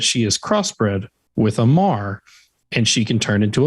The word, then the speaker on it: Mahr: And they spell it MAHR and call it a Mar.